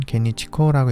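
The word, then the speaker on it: 幻日虹: 일본어로는 게니치코라고 읽습니다.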